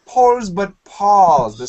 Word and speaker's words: Paul: And American pronunciation, this name, P-A-U-L, sounds like Paul, Paul, P-A-W-L, Paul.